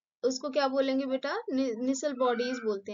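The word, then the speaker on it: Nissl: निसल bodies बोलते हैं।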